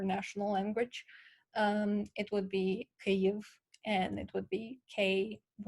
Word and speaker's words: Kyiv: um, so please, and also Kiev, the capital. First of all, it's pronounced Kyiv in Ukrainian, and it's spelled Kyiv.